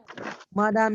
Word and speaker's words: Mme: What he's asking, is it madam as in madam in English, or Yes, is it pronounced yes. madam? Yes, Mrs. Madame Ibezi est une femme courte.